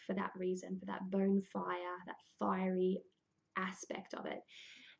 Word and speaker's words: Bonefire: be very clear that it is bone fire as in Beltane fires the burying of the